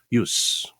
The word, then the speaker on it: use: use, 명사니까 use라고 발음합니다. 동사일 때는 use 이렇게 발음하지만 쓰임새, soulmates, 우리말로도 soulmate죠.